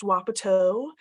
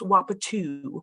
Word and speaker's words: wapato: So I will say both ways that it's pronounced. One, it's pronounced Wapato. It's also pronounced Wapatu. And so either one is okay. It depends on which tribal person you're talking to.